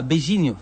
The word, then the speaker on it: beijinho: Ah, Beijinho. Beijinho, ah Il Beijinho. faut Voilà. pas prononcer en Beijo.